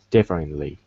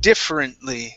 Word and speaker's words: differently: the word differently okay so here we're not going to pronounce that that e right after the f so instead of differently it's different differently try that differently okay almost you're saying different okay so remove the e instead of different it's